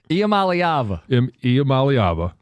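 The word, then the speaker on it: Iamaleava: Imamalyava as people have pointed out phonetically uh looks like I'm leaving.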